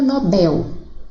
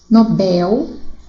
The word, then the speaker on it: Nobel: Então, as sílabas a serem circuladas seria o in, de ruim, o bel, de nobel, circuito seria o cui e o condor, o dor, ok?